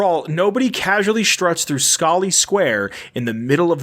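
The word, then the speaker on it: Scollay: like yeah so uh i looked it up and it's pronounced scully so mayor murphy and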